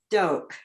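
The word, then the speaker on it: Doak: you pronounced d-o-a-k yeah I think it's doke I actually said dork like like um but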